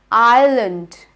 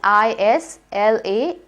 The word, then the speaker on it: island: Island. Spelling is I-S-L-A-N-D. I hope none of you pronounce it as Island. It is not Island. The S is silent here.